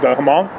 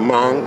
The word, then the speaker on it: Hmong: he worked with the uh how do you pronounce the haman oh the hmong okay hmong uh-huh yeah right he was working